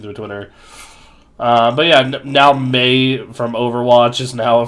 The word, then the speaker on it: Mei: Do you pronounce it as Mei? Yeah. I always thought it was Mai.